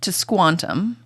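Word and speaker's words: Tisquantum: that native person Squanto his name is actually to squantum that's not that hard I think does this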